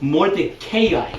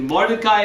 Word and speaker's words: Mordecai: Some people they say this thing. I hear it. It goes Mordecai. Yuck. Sounds terrible. I don't even know where they get that pronunciation. It's either Mordecai or you can call me Morty because I think we're friends.